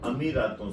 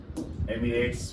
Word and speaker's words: अमीरात: स्थापना हुई थी 7 अमीरातों से मिलकर हुई थी। एमिरेट्स इंग्लिश में बोलते हैं, हिंदी में अमीरात प्रोनाउंसिएशन के रूप में बोल दिया जाता है।